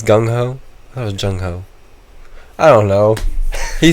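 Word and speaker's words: gung-ho: so but originated so it's like jungho that's how it's pronounced yeah but I bet it was originally chungo or gun gunko I don't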